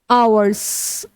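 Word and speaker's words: hour: तो H silent है और आप कभी भी अगर आपको चेक करना है तो आप लिखकर करें। आवर्स आवर कौन सा आ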